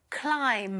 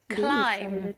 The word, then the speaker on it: climb: Two, climb. Yes, I know that climb. We do not pronounce the B at the end.